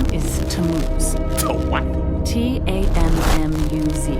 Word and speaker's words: Tammuz: His name is Tammuz. Oh, what? Tammuz. It's pronounced Tammuz.